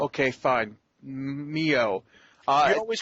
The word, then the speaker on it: MiO: I'm gonna support Lemonade Mayo because I've got a big glass of it right here and it tastes delicious. I think it's Mio, actually, not Mayo. Okay, fine. Mio.